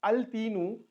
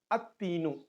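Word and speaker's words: التين: Instead of al-tinu, we used to pronounce it as at-tinu.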